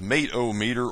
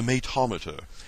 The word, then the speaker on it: mate-o-meter: The other one, it says mate-o-meter, or if you prefer the European pronunciation, the matometer.